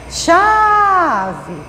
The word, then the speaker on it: chave: Chama, Chave. Você demorou mais chamando a sílaba chá. Então, da palavra chave, chá é a sílaba mais forte. Então, não é a última, é a penúltima.